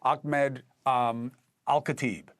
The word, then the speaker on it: Ahmed Alkhatib: One is someone I rely on very heavily, Executive Director of the Urban War Institute, John Spencer, and Palestinian-American activist and writer, Ahmed Alkhatib.